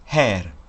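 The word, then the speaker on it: ḥr: C'est un bilitaire qui se prononce her.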